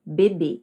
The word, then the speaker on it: bebê: Com o acento circunflexo, então, se torna bebê e não mais bebe, certo?